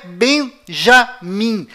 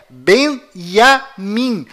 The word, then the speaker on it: Benjamin: é Tchau Além disso não é Benjamin a pronúncia correta é Benjamin pois lembre-se até hoje não existe em hebraico nenhuma letra com som DJ confira é Benjamin metaniarro